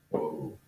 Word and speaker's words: ho: have okay and now this H here is silent you don't actually pronounce that H in the language let's move on to